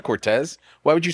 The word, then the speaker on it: Cortese: to be confused today how do you pronounce it Cortez I'm just gonna go with Cortez but my uncle's growing up my dad's Brothers pronouncing Cortese I was just gonna